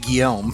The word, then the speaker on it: Guillaume: loud yeah it's it it is two syllables but being French they flow together fairly fast as red-eye flight puts